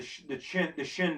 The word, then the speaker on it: Qin: Let's talk about the Qin dynasty. Okay, also known as the Shin dynasty. Okay, it's pronounced, you say potato, I say potato, tomato, tomato.